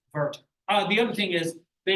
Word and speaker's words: Werther: Opposite with German. When you see a W, they make a V sound.